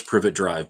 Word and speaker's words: Privet: dumble dumbledore in the private drive at the start of the harold potter movie i know it's privet drive but it's also funny when i mispronounce things and then the harold